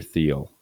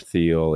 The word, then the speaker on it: Thiel: But there's something that is in the works from this guy named Peter Thiel.